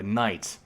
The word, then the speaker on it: knight: our English word uh Knight of course uh we we don't pronounce the k in Knights otherwise it'd be tonight